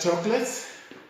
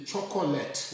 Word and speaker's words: chocolate: on to number six and most people that chocolates but I often hear them say the chocolate was nice now it's chocolate this all here